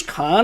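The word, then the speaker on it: Caan: played by James Khan James Khan is how you pronounce it uh Darkman want to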